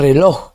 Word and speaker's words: reloj: Reloj, no es reloj, es reloj.